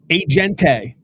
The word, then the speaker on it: agente: How do you say agent in Spanish? I'm going with agente. Agente. Okay? There you go. Agente. There you go. All you got to do is add an E onto everything, and now I speak Spanish.